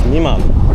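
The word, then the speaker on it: 未満: Well, there's a word for that and it's niman.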